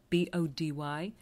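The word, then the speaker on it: Bodie: the 1980s by the island lighthouse pronounced be ody is owned by Cape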